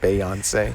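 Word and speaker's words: Beyoncé: the ability to say now let's hear some Bayon say so he pronounced it Bayon say that's how you pronounce it that's here you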